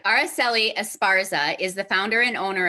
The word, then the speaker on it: Araceli Esparza: Araceli Esparza is the founder and owner of Wisconsin Mujer.